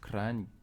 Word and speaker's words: Kranj: ici moi je conseille de vous arrêter à kranj crâne ça s'écrit caër à voile à angie klein vous